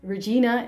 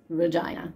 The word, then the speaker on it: Regina: It's not pronounced Regina. It's actually pronounced Regina.